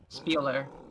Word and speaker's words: Spieler: Spieler. That's That's how it's said.